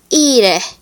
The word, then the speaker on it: ire: I is pronounced like the I in the English word machine. A Latin word is ire, which means to go.